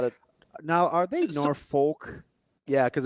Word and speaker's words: Norfolk: Right there at home at Norfolk State. Probably not a Now, are they Norfolk?